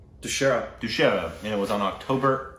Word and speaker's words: Dussehra: It's called Dussehra, and it was on October 8th, so yesterday.